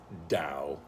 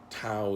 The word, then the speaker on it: Tao: am pronouncing it properly Dow spelled ta o or tau as you might have heard it tau is maybe a possibility